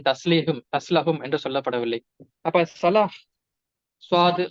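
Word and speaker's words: صلاة: ஏன்னா தமிழ்ல ஹா கிடையாது. ஆனா காக்கு எனது தமிழாசிரியர் சொல்லிக் கொடுத்தது 3 வகையான உச்சரிப்பு இருக்குன்னு சொன்னாங்க. அழுத்தி சொல்லக்கூடிய கா, கொஞ்சம் லேசா சொல்லக்கூடிய கா, தமிழ்ல ஹா இல்லாததுனால கா தான் தமிழுக்கு ஹா. ஆனா தொழுகைன்னு சொன்னாலும் அது சரியா பார்க்கும் பொழுது அது சொலாஹ் தான்.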